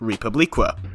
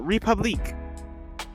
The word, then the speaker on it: Republique: But since I have so much resentment for this very French sounding name, I am instead going to pronounce it Republicqua.